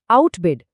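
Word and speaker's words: outbid: बिल्कुल इसी तरह डाउट में बी चुप है, लेकिन आउटबिड शब्द में हम इसे सुनते हैं, आउटबिड। तो यहाँ क्या हो रहा है?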